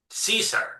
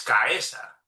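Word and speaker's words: Caesar: Porque la la la secuencia CAE como en César, ¿no? Ellos la pronuncian Cesar, ¿no? Cuando en en latín realmente estrictamente es caesa.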